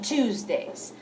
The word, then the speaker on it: Tuesday: We have lunch at home on Tuesdays. A ver, on Tuesdays. We have lunch at home on Tuesdays. Y fíjate en la pronunciación de Tuesday. Es como el número 2. Tuesday, Tuesday. We have lunch at home on Tuesdays.